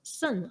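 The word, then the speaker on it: saṃ: And Sang, S-A-M, you can you pronounce as Sun, S-A-N.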